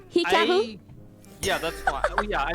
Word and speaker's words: Hikaru: Americans, because of course the HI is pronounced like HE in Japanese.